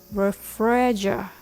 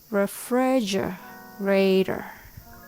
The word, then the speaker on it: refrigerator: fridge in short form when you separate the word into two chunks it might be easier to say refrigerator refrigerator the Rhythm goes T daada refrigerator I have a Hatachi